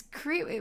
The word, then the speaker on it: crepe: It's crepe. We say it as crepe here.